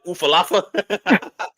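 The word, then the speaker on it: Ula Fala: that, when he first got you have to pronounce it for me, the alpha. There you Ulafala. go. What does LA call it? Ufalafa?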